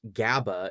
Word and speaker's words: GABA: Gamma aminobuteric acid commonly pronounced GABA is the main inhibitory neurotransmitter that works in opposition to glutamate in the brain.